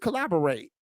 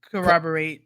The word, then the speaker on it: corroborate: many of their story collaborate is that the right way I say it right uh corroborate corroborate corate each other so it